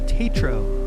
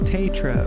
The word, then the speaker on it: Taetro: How do I pronounce my name? Tetro. Tetro.